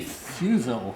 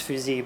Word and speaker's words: Fusil: We have Fusil. Is that the right pronunciation? Well, if you're French, it's Fusil, but yes.